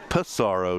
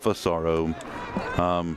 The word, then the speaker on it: Pissarro: And I did get clarification that we hear that it's very similar phonetically, but that it's Pissarro, not Fusaro.